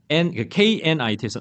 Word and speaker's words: knit: 다음에 K-N-I-T에서 knit이라고 하시면 돼요. knitting이라고 그러는데 이때 K가 소위 말하는 묵음, 소리가 나지 않습니다. 그죠? knit 이렇게 해서.